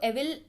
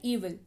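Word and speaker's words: evil: ईविल यानी कि बुराई, इसको एविल पढ़ते हैं कई लोग बट एक्चुअल में इसका प्रोनाउंसिएशन होता है ईविल, बुराई यानी कि दुष्ट।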